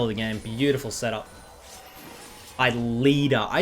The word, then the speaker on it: LIDER: Leader. Dude, I used to call him LIDER.